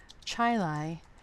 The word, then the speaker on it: Chili: So I'm going to select Tech Design Services, and I am based in North Chi-Li, New York, which is spelled like chili.